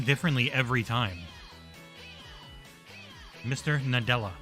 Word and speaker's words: Nadella: Nadella, Mr. Nadella, Mr. Nadella. Not Mr. Della, not Mr. Dela, not Mr. Nadula.